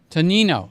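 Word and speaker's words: Tonnino: I think it's tan with a t o n i n o. Tanino. Tanino. I knew I was saying it wrong.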